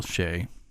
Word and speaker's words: Che: She had some jokes for Michael Shea.